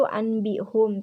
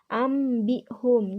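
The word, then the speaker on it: أنبئهم: Nah, kan ditulisnya itu anbihum, tetapi dibacanya itu harus ambihum. Jadi nun matinya itu dibaca mim.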